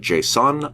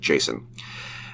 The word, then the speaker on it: JSON: Some people pronounce it JSON. I call it JSON.